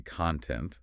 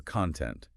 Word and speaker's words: content: So, if I only read the word content, I don't know if I should say content, the noun meaning material, or content, the adjective meaning satisfied. If I never hear it,